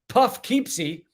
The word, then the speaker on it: Poughkeepsie: my fans know in Poughkeepsie, good old Poughkeepsie, or Puffkeepsie, pronounced correctly.